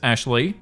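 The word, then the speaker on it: Ashliegh: A S H L I E G H, pronounced as Ashley, before her husband stopped her.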